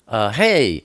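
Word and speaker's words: הֵא: But Hey is pronounced H, like hello. Or sometimes it's pronounced Ah, like Abba.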